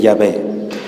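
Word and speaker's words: Yahvé: fiel a la tradición conservó la pronunciación correcta que es el nombre de llave pero bueno esto es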